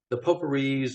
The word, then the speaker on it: Popori: But the Poporis or Poporis, I'm not sure how you pronounce it, to Yeah, be we honest, asked but him.